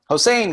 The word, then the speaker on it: Hossein: duncanson and finally hossein hossein am i pronouncing her name correctly anyone feel free to correct me hussain got it thank you okay now